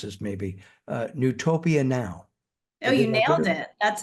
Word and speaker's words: Newtopia Now: I'm really excited about I'm going to mispronounce this maybe, Newtopia Now. Oh, you nailed it. That's it. Yeah. Well, we're done then. That's great. Drop the mic. We're finished here. Newtopia Now.